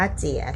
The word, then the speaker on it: 节: ถูก ต้อง นะ คะ คำ ว่า เจี๋ ไม่ ใช่ สระ เอีย ธรรมดา นะ คะ เป็น อิเอะ นะ คะ เจี๊ เจี อ่า คำ